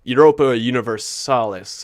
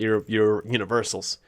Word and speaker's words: Europa Universalis: Europa Universalis, I think it was called, not Universals.